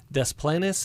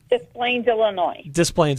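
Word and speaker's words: Des Plaines: um and let me see if I I pronounce this correctly desplenes Illinois so B are you okay with that you say it B isplane okay good good excellent well B what can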